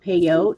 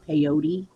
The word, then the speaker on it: peyote: watch i love that it's properly pronounced pay out especially among the native americans not peyote you that would be